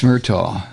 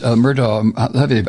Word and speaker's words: Murdaugh: So that is Alex Murdaugh's, Murdaugh, I guess it's Murdaugh is the way they pronounce it.